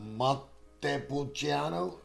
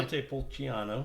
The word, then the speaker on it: Montepulciano: Montepulciano? Yeah, Is the that right? Montepulciano.